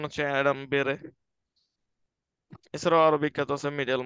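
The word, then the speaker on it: Adam Bede: হইছে সেই বইটার নাম ছিল অ্যাডাম বেরে এটার উচ্চারণ হচ্ছে অ্যাডাম বেরে এছাড়াও আরো বিখ্যাত আছে মিডেল মার্চ ইটিএসসি তো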